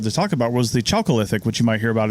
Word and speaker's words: Chalcolithic: Chalcolithic, that's CHALCO lithic. Yeah, and I struggled with that word a little bit. I've heard it pronounced Chalcolithic too. Oh, okay. Yeah, so I'm not really sure what the actual proper pronunciation is, but that literally means Copper Age.